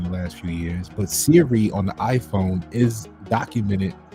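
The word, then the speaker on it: Seere: It's pronounced Siri, right?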